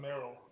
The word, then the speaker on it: Marill: M-A-R-I-L-L. I think it's pronounced Merrill.